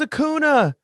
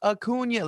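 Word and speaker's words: Acuña: be as good as hakuna you'll never be as good as a kona no no and then bryce turns around and goes acuna uh it's it's pronounced a kunya like keep saying it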